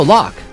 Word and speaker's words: Locke: No, Locke. It's Locke. You cannot say Loke. You're loco if There's you say an Loke. E at the end, and Locke is spelled L-O-C-K, not L-O-C-K-E.